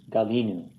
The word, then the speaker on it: galinu: And then all the way down in the first person common plural, it's Galinu, is where the accent is.